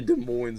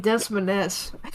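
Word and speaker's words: Des Moines: Oh, I called it Desmaness. Desmin. Okay. I was like 11 and I I called it that in front of my mom and that's when I found out like how to actually say it.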